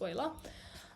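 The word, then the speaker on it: Euler: = one and so this number is called oil's number that's how you pronounce this word it's Oiler um and it's denoted by the letter e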